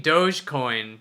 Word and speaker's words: dogecoin: pay with dog coins you mean dogecoin there that's the pronunciation it's dogecoin come on so yeah so